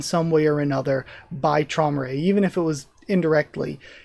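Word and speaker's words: Traumerei: I need to say Traumare, not Traumare. I'm just so used to like Japanese Ray pronunciation versus Rai.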